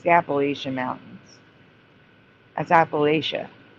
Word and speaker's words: Appalachia: And also, do you say Appalachia? Do you call it the Appalachia Mountains? Because it's the Appalachian Mountains.